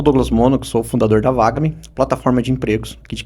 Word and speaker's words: VAGAME: Eh, não é Vagami, né? Tem a pronúncia correta. É vagam. Isso. Vagam. Isso. De vaga.